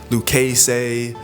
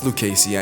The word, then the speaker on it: Lucchese: And then last, there was Lucasy, which I always seem to pronounce incorrectly. Lucasey. Lucase. Luces. It's It's Lucasey, I know, but like I I want to say Lucase because like there's E, SSCC. Like there's all these different syllables in there with Lucasey.